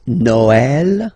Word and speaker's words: Noël: The last one, tréma, well, basically it's quite rare, and the tricky thing is that in some cases you will have to pronounce it like eh, okay, like for instance Noël, okay, but then in some cases as well it can be pronounced like e, okay.